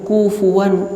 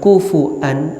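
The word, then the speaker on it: كُفُوًا: Wa lam yakul lahu kufuwan ahad. Kufuwan atau kufuan atau dibaca juga kufan, ada beberapa cara baca di kalimat ini.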